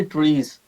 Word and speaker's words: TRIZ: So trace is basically Russian word, सो वो से pronounce करते हैं जी ट्रीज।